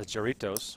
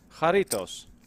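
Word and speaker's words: Jarritos: Bruce rating also says charitos which is the soft drink from Mexico that I really like haritos according to produce right there are not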